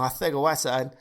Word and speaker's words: Arcega-Whiteside: No, it's Arcega because that's how it's pronounced. It's pronounced like Mike Tyson would say it. That's seriously the best way that somebody explained it to me.